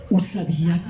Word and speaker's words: o sabiá: Porque la U se pronuncia u. Usabía.